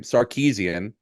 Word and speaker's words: Sarkisian: Sarkisian.